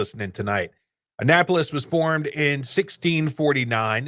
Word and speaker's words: Annapolis: Google things where you go, "How do you pronounce this word?" and it tells you? oh, that's a great idea. And Annapolis.